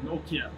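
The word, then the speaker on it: Nortje: I'm going to say Anrich Nokia. It's much better. I've heard a lot worse. Okay, the bar's pretty low for me. He's just Anrich Nokia. Yeah, Anrich, not Nokia like the old... No, Nokia.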